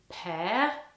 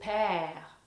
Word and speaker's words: père: Le père. Et comme vous voyez, il y a un accent grave sur le e, ce qui fait le son e. Un son ouvert. E le père.